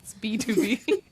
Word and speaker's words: BTOB: Um from the one and only B2B. Which for those of you who are unaware of how it's pronounced, that's the BTOB. It's B2B.